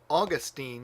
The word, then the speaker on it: Augustine: a Latin class but it goes back to the third syllable from the end if there's nothing holding it back and so if you're speaking English Augustine because that's the third to the end but if you're speaking